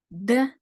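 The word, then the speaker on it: д: are ready to recap de as in drone e as in impulse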